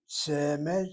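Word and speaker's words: צמד: And both words get the accent on the first syllable. Semed, short vowel sego, open syllable, accented.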